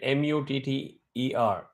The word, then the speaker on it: Mutter: is do correct whereas in German you write m-u-t-t-e-r it's pronounced as mutter it's very phonetic if somebody says it